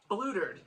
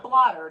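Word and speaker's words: blootered: If I'm saying it correctly, they said blutered. That's what they said. Blutered. Not blottered. It was blutered.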